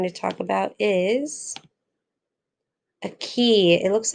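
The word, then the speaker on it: cay: that we're going to talk about is a key it looks like k but it's pronounced key so it's a low bank or reef of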